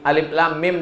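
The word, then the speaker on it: الم: Alama. Padahal bacaannya alif lam mim. Alif lam mim dibaca alama.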